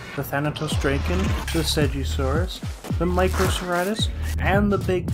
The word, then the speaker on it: Segisaurus: pleasure to welcome the seuris well seasa surus uh Lady it's pronounced segisaurus get with the program please